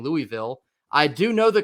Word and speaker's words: Louisville: uh in the Pink Panther when he cannot pronounce the word hamburger that's like this guy uh for me so I know it's Louisville moving forward here but we're gonna jump right